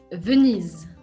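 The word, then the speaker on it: Venise: venice another italy one which in french is vunis with a z z-sound advance in hungarian we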